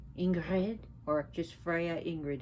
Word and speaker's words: Ingrid: If you can't roll your R's, that's fine. You know, it doesn't come easy, especially when you don't speak a language where you do not roll your R's. It takes time to learn.